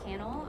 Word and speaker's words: Cannell: Last name is Cannell. Okay, it's not spelled like kettle. No, that no one has actually said that before. That would have been funny, but no, it's not like kennel, like cannel.